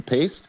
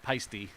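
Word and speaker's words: Paiste: Paste? Is it paste or pice? Peisty.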